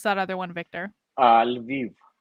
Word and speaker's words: Lviv: I visited Kiev, and I don't know how do you pronounce that other one, Victor? Lviv. Lviv.